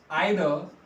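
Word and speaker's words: either: आइदर या ईदर जैसे आप प्रोनाउंस करें, बाय ब्रिंगिंग और विड्रॉइंग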